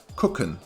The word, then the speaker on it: gucken: to gawk at something, is pronounced more like gucken with a K sound in the beginning.